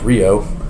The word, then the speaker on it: REO: of uh REO um REO Speedwagon it's actually pronounced Rio it's uh Ransom Eli olds yeah that holds